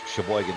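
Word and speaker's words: Cheboygan: There's a town, Sheboygan, Michigan. Spelled with a Sheboygan. CH, and I know it's got a sister over there in Wisconsin, SH. Yes. But CH, Sheboygan, Michigan, known for its sweet corn in the northern Michigan area.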